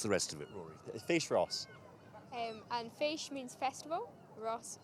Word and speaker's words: Fèis Rois: Kaylee Trail what's the rest of it Rory face Ross and fish means Festival Ross means Russia which